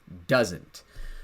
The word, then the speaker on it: doesn't: Those two words become the contraction doesn't. We want to make sure we really pronounce the T sound, the T, doesn't.